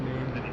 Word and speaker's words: Nadi: It's pronounced Nandy.